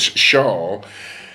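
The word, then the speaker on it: שאול: The word which is pronounced shawl, the name of one of the king of Israel, the first king of Israel, his name was Shaul. Shaul is spelled exactly the same as the word pronounced Sheol, ladies and gentlemen.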